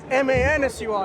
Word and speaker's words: Mansur: M-A-N-S-U-R, I can call it. Mansur. That's how it's pronounced, right?